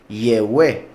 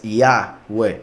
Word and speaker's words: Yahweh: poquitito más saben que el nombre de Yahweh no es Yehweh, es Yahweh.